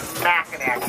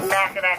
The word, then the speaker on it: Mackinac: take this with you regardless of how you see the word spelling it is always pronounced background trust me folks do not ever say the word smacknack you say mackinac it makes you sound